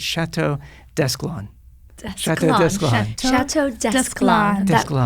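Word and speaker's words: Château Desclans: So it's Chateau Desclans.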